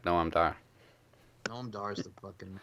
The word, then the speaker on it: Noam Dar: You also pronounced her name wrong. What? Alicia Fox. Alicia Fox. It's not right unless you say it like Noam Dar.